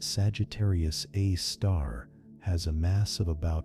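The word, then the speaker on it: Sagittarius A*: The one in our galaxy called Sagittarius A asterisk, pronounced Sagittarius A star, has a mass of about 4.1 million solar masses and is located about 26,000 light years from Earth.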